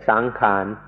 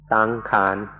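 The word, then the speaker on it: saṅkhāra: which is Sankara ties make it a little easier to pronounce and say sang Khan sang Khan but in English books it will be spelled out Sankara sankhara means to form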